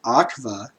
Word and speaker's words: aqua: Latin aqua, pronounced aqua, is water.